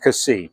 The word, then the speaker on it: Cassis: So you hear it pronounced Cassis or Cassis. If you've been to the place, they make a really strict point of dropping the last S.